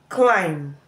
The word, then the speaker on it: climb: subtle death doubt WR letter B can as well be silent after letter M in word finals for example lamb tum k womb thumb thumb climb climb Plum plumber plumber